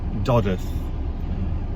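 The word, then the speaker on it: Dodworth: in a in a place called dodgeth doddworth d-o-d-w-o-r doddeth as it's pronounced here in barnsley um and it's an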